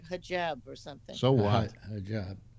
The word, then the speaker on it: hijab: Apparently, was taken out of context, but hajib or something she said, and it's actually pronounced like hijab or something.